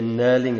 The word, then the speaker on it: knurling: going to be a knurling it's a diamond knurling but knurling would suffice so it's a silent k and your answer is